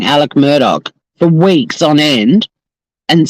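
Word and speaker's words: Alex Murdaugh: And every time he says Alex murder, I'm like, how can you watch a trial and hear everyone saying Alec Murdoch for weeks on end and still get the name wrong?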